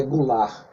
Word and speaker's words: Goulart: se encontrar no final mas a pronúncia é Goulart João Goulart o presidente